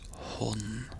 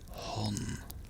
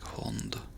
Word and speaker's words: hånd: Hand is hånd. So it's pronounced very, very differently. Hand, hånd. There's no... I think some dialects use the D, like hånd. But in general, we just say hånd.